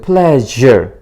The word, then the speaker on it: pleasure: 이게 단어, 한 단어만 하면 sure인데, 이거 단어의 다른 음절에 붙어서 발음할 때는 이 발음으로 갑니다. 그래서 pleasure. 이렇게 발음을 해야 된다는 거.